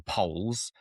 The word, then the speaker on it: Pole: the Tudors were the Poles. But I mean, we say the Poles, or Poole as it was probably pronounced.